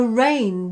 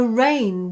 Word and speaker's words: reign: The EI spelling also takes on the sound of A. Try these. Vain, rain, rain. Now EIGH, as in eight. Wait, neighbour. Here's the practice sentence. Her reign was in vain after she fainted with pain.